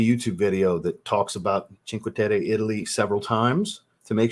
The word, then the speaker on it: Cinque Terre: Like I said, Cinque Terre is Cinque Terre. That's how you're supposed to say it. I watched a YouTube video that talks about Cinque Terre, Italy several times to make sure I could get the pronunciation right.